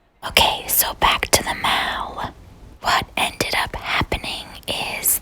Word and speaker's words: Mall: to the central park mal i believe it's pronounced mal but it's spelled like mall and it's basically a